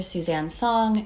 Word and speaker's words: Suzanne: my instagram is dr suzanne song it's spelled like susan with a z you can also check